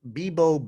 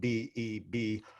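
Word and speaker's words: Bebout: gonna guess it's pronounced bebo i've never heard it said out loud i only read it online but since she spells it phonetically for the name of her company i'm gonna guess that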